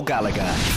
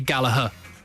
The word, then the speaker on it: Gallagher: Because your dad accosted me and Jimbo at the Etihad and said we're saying the name wrong and it should be Gallagher. Well, it is, really, but not if you're from Manchester. Gallagher, innit?